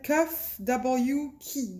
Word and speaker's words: KUFWKEY: Alors, je vais le prononcer à l'anglaise parce que j'ai vu quelques chaînes faire des unboxings de cette compagnie, mais ça s'appelle Kuff W Key.